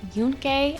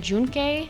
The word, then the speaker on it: Yunque: By the way, I heard it pronounced both Yunque and Junque, so I'm inclined to believe that either option works.